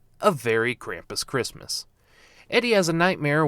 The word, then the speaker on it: Krampus: get evidence of krampus oddly they pronounce it krumpus here instead of krampus i could be in